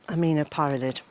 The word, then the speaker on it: aminopyralid: There is a really unpleasant herbicide for broadleaf plants called aminopyralid, or at least I think that's how you say it.